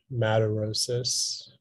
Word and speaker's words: madarosis: there any alternate pronunciations it's just the one madarosis madarosas can you please